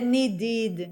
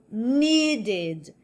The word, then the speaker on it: needed: Mesma coisa no need. Eu não vou dizer needed, não, não, não, não. Eu mantenho a sílaba forte, original, need. So, needed.